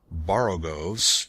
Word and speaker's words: borogoves: Again, the first O in borogoves is pronounced like the O in borrow. I have heard people try to give it the sound of the O in worry. Such is human perversity.